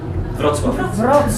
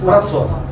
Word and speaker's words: Wrocław: Wrocław. Wrocław. Wrocław. Okay. Probably not. Somebody told me wrong. Maybe I will. You might help us a little bit. Yeah. Wrocław.